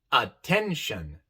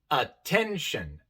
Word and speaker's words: attention: pronuncia e Direct Direct También tenemos attention attention aquí esta palabra tiene tres sílabas pero la sílaba que lleva la e la de en medio es l tónica y por eso la e se pronuncia e attention y en la palabra